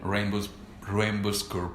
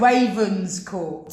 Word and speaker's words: Ravenscourt: Rainbowscourt Park. My God. Sorry? Rainbowscourt Park. Ravenscourt. I still did. I can't pronounce that. Ravenscourt. Rainbowscourt. Raven. Ravenscourt. Ravenscourt. That's better. That's better. Park.